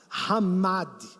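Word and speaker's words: חמד: Significa desejar, hamad, essa pronúncia no hebraico.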